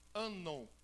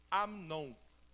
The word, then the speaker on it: Amnon: Eu sempre lia Anon. Só que todos os dicionários, alguns léxicos, me trouxe a tradução. Eu coloquei na voz, né, para ver no Google. E aí trouxe a pronúncia Amnon.